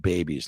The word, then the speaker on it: BABIES: Yes, it's pronounced babies, like making babies, having babies, because nothing is more valuable than that.